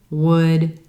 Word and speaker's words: would: Also, notice there's an L in these words, but that L is totally silent. You don't hear it at all. Could, would, should.